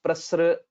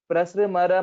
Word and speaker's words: प्रसृमर: In general, most of the people would tell it as prasra, etc. But it should be only there is a stress on pra because of a sanyuktakshara. Prasrimara mahimanam. That's how we'll have to pronounce it.